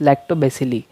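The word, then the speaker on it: Lactobacilli: इसका प्रोनाउंसिएशन आप अलग अलग कर सकते हो, बट the correct pronunciation is लैक्टोबैसिली।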